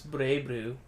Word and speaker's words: BlazBlue: it's supposed to be pronounced BlazBlue, right, technically? In Japan, it's Breiblue.